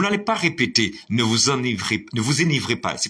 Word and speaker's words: enivrez: à l'infinitif bien entendu prononcer enivré donc arrêtez de répéter enivré puisque le E n'est pas accentué s'il vous plaît donc